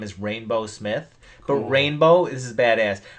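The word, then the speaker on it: Rainbeaux Smith: rainbow this is badass rainbow is spelled r a i n b e a u x like the Cajun like or French or whatever that would be rainbow Smith I think that's cool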